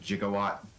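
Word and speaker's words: gigawatt: Um, but I will argue uh it's pronounced jigawatt. No, it isn't. That's only the way Doc Brown pronounced it.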